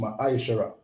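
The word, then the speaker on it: מעשר: Means 10th in the Hebrew and is pronounced Ma'aishara.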